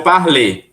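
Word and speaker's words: parle: tá bem mesma coisa como é que eu pronuncio na primeira pessoa je par sem o e je par vai até o l je par par par parl par parê aí você fala o e e par para fé Ok então temos quatro sons iguais mas as desinências diferentes na escrita escreve mas não se fala mais ok Renata pode perguntar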